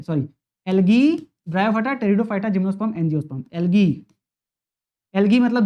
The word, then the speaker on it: Pteridophyta: फिर आता है टेरिडो, देखो पी से स्टार्ट हो रहा है, पी साइलेंट रहता है, PTERIDOPHYTA, टेरिडोफाइटा।